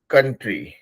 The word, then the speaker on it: country: That is कंट्री. ठीक है. COUN है लेकिन हम उसको प्रोनाउंस करेंगे कन. तो कंट्री है.